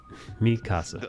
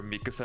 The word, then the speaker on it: Mikasa: Mikasa. I heard the English dub calling her Mikasa. I'm like, chotto mate. Mikasa. That's not how you pronounce her name.